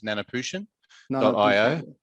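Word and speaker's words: Nanoputian.io: you please tell me what is the correct pronunciation for your company name oh yes so our our formal name is nanaputian dot io uh so the whole company name includes the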